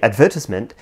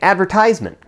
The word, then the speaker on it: advertisement: For example, the British say advertisement, while the Americans say advertisement.